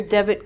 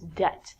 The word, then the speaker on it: debt: to give people money so it's not debit like debit card is debt next one is doubt